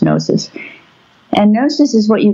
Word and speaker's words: gnosis: Well, the Greeks had two words for knowledge, logos, meaning the mental apparatus, the intelligence, and gnosis, spelled with a G, like gnosis, but pronounced gnosis.